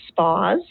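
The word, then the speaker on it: S'Paws: the birth of spas family wellness so we pronounce it spas it's s apostrophe paws so spas family wellness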